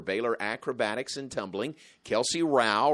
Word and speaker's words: Rowell: assistant coaches for Baylor acrobatics and tumbling Kelsey Rao rhymes with Tao is with us welcome to you